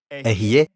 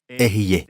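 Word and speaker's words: אהיה: » En hébreu, Ehyeh, Asher, Ehyeh.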